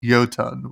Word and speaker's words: Jotunn: know if we're saying it correctly yeah it's pronounced yotan with the J um so we'll see should